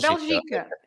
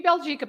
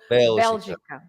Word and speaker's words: Bélgica: Can you see the accent on the E? See, I've already messed Belgica. it up. Belgica. If there was no accent, it would be Belgica, but there is an accent, so Belgica.